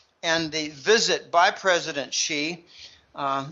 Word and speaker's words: Xi: the visit by president xi uh that's how you pronounce x eyes like he she it she president xi um and and it